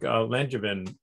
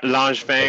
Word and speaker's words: Langevin: And Langevin, is that the way that I pronounce your name? I don't want to mispronounce it, please. That works. Yeah, Langevin or Langevin. I'm flexible.